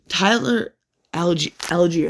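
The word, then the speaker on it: Tyler Allgeier: Tyler Algier, that's how you say it.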